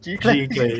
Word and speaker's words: Giclee: But at least one thing we learned tonight, at least we can pronounce the word Giclee. Giclee, yeah.